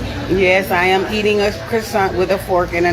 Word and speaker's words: croissant: a c but he's telling her it's a crescent because he probably saw it written somewhere and